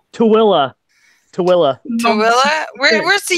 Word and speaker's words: Tooele: It's pronounced Tooele. Tooele. Tooele.